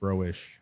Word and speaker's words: Broich: It's pronounced SH, like Broich. Broich. Yeah, So- not Broich, Broich.